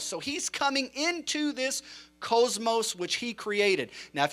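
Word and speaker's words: κόσμος: Some would pronounce it cosmos, but it's cosmos.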